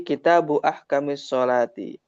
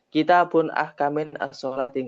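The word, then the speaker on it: كتابُ أحكامِ الصلاةِ: Terkadang seperti kitabu ahkamis sholati. Ini kan bacanya kan jadi satu. Kitabu ahkamis sholati. Nggak bisa. Kitabun ahkamin as-sholati. Nggak bisa. Bacanya itu jadi satu. Disandarkan ke kalimat setelahnya.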